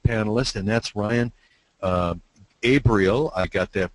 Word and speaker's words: Abrial: you the next panelist and that's Ryan uh abriel I got that pronunciation correct I think Ryan you sure did